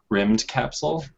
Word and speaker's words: Rymdkapsel: I think it's pronounced Rimmed Capsule. It's spelled RYMDKAPSEL, and it's kind of a RTS game, I guess.